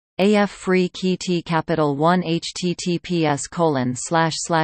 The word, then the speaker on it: Afrekete: work from home jobs pronounced AF free KEYT Capital One https colon